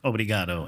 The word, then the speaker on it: obrigado: Thank you, first of all, very much for having me, or obrigado, as I learn is how you say it here.